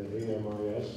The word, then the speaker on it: AMIS: The AMIS, we like to pronounce as AMI. If you know one word in French, that's a good word to know, because it means friends, and our mission is to